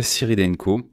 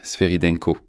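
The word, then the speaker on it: Svyrydenko: Je suis Yulia Syrdenko. Désolé, je dois bien prononcer Sveridenko. Je l'ai très mal prononcé tout à l'heure, mais c'est Sveridenko. Premier ministre d'Ukraine, je suis actuellement dans le bâtiment gouvernemental.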